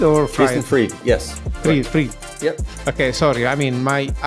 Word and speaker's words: Fried: Fried. Yep. Okay, sorry. I mean, as an Italian, nobody pronounced my surname and name well when I do interviews.